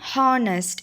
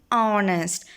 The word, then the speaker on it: honest: Next one is honest. We are not saying honest, it is honest. So, O sound is there in vowel sound.